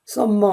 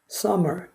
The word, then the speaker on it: summer: 테니스는 제대로 하는데, 네, summer 아닙니다. summer. common 아닙니다. common. 이거 겹자음은 하나 자음으로 발음합니다.